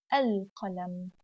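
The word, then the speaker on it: القلم: Qalam, al-qalam. Could you hear the sound of noon? It wasn't here. I said assa, but here al-qalam.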